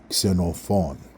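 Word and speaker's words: Ξενοφών: have to be used you have to get used to making it at the beginning of a word without a vowel in front of it sooon xenophon not that hard that's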